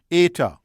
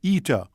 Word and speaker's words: eta: your teacher back then some call a letter with the pronunciation that directly mimics the Greek hence technically and correctly ater a a Y as in May while most others call a letter with the pronunciation ETA a double E as in Mead it is this latter